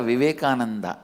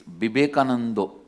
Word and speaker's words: Vivekananda: Because in Bengal all the A will become O. In Bengali it is never Vivekananda, it is Bibekanando.